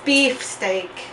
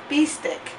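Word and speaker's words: bistek: Philippines is bit silly it's not supposed to be beefsteak it's supposed to be actually called B stick so pilings influenced by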